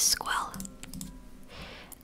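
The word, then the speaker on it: scoil: School is Squel.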